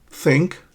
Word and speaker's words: think: and that happens because think is pronounced by touching your upper teeth with your tongue. Think. And sink, there's no contact between the tongue and the teeth.